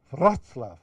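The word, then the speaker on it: Wrocław: You know, Breslau is now, I'm pronounced, no, I don't think I can be corrected by anyone here, but let me try, Wroclaw, okay?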